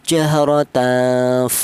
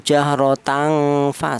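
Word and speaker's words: جهرة: Jadi cara bacanya tidak terlalu dengung juga tidak terlalu samar ya. Jahr tan seperti itu. Kalau terlalu dengung seperti ini, jahrotan fa salah atau terlalu samar jahrotan fa juga salah.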